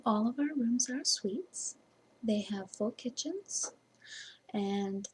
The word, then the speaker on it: Suite: help you ah yes sweet is spelled s UI T we think it's clever